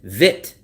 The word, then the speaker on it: Vietnam: I'll hear them say vit Vietnam. And I'm like, where's the e? They'll say vitnam. I never hear them say viet like vietjet vietjet Vietnam. Locals will say vit. They'll leave out the e.